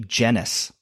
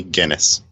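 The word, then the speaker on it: Gennis: that most people seem to call her Emmy genis which I can appreciate personally when your last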